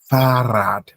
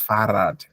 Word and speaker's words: Fahrrad: You know that when there's an R, we stretch. Farad, far, referee, yeah, Farad. Okay, that's Farad.